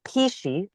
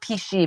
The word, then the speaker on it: pici: We make pici, and it's spelled Pici, which is very traditional Tuscan pasta recipe.